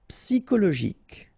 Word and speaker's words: psychologique: Psychologique, okay, remember it's an exception here because you've got this C-H-O. Normally we should pronounce it cho, okay, but in that case we pronounce it co.